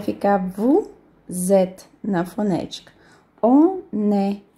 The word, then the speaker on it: on est: On est. Então, não tem nem o S, nem o T não se pronuncia. Então, fica on est.